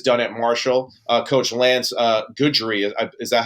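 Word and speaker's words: Guidry: Coach Lance Goodry, is that how you pronounce it, Ben? Goodry.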